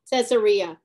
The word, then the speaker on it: Caesarea: from caesarea how do you say it again caesarea yeah to jerusalem then the high priest and